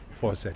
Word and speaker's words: Fawcett: it's it's it's it's faucet he's not French he's it's faucet it's faucet yes oh